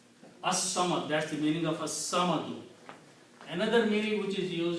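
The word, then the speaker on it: الصَّمَدُ: dhamma, and it becomes al samadu, but swad is a shamsi letter, so its sound will change into, lam sound will change into swad, so it will be pronounced as as-samadu.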